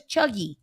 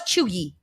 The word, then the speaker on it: cheugy: And what is, I know what trill is, but what is chuggy?